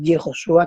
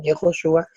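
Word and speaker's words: יְהוֹשֻׁעַ: Y si vamos a mirar cómo se dice Josué en hebreo, que es Yehoshua, que así se dice Jesús en hebreo también, Yehoshua, tenemos la Hei, la Bau, la Shin, la Ayin.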